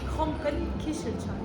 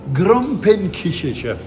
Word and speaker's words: Gromperekichelcher: I found the comment ça se prononce? Gromperekichelcher. Gromperekichelcher.